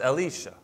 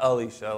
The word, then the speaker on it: Elisha: god is salvation and it's pronounced elisha not alisha like the girl's name but el isha so let's say it